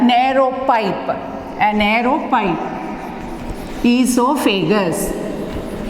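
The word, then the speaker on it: oesophagus: Esophagus. O silent, you have to pronounce it as esophagus.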